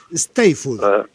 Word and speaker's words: Eisteddfod: El Steiffod. Yo no sé pronunciarlo. No, pero yo por fonética la he escuchado muchas veces. Steiffod. Sí. Perfecto.